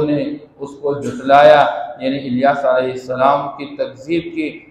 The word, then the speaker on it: الیاسین: چھوڑ دی، سلام علی الیاسین، کہ سلامتی کا نزول ہو الیاسین پر۔ یہ الیاس علیہ السلام کا ایک تلفظ وہی ہے الیاس، اور دوسرا تلفظ یہی ذکر کیا گیا ہے، اِنَّا كَذَلِكَ نَجْزِي الْمُحْسِنِينَ،